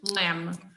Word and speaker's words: lamb: lemon isn't yeah but don't pronounce the b sound okay pronunciation lamb what kind uh cordero